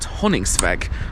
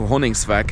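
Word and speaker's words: Honningsvåg: And now we are heading to a town called Hönigsvag. I think that is how you pronounce it.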